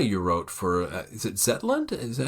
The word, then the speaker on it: Zetland: I was gonna read just a couple selections from Niels' essay you wrote for is it Zetland?